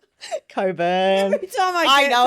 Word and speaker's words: Cockburn: I don't know why it's spelled cockburn and you pronounce it coburn.